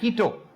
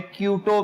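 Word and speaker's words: Quito: इक्वेडोर का कैपिटल है कीटो, जिसे उर्फ आम में क्यूटो भी कहा जाता है, जो कि गलत है।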